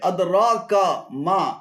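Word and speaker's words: أدراك ما: এখানে আদরা এবং কামা উভয়টি ভুল উচ্চারণ। শুদ্ধ উচ্চারণ হবে আদরাকা মা, আদরাকা মা।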